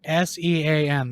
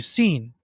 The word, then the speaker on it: Sean: right he's your roommate his name is spelled s-e-a-n that's Sean we all know that but if your roommate doesn't like not a smart person they call you scene and you're too nice